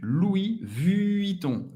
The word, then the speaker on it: Louis Vuitton: Louis Vuitton. Louis Vuitton. Ok? Rápido. Louis Vuitton. Louis Vuitton. O N tem o som do on.